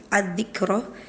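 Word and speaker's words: الذكرى: Kemudian di surah Abasa itu setiap pelafalan ad-dzikra, di surah Al-Fajr juga ada ad-dzikra, itu harokat tasydidnya tidak dibaca.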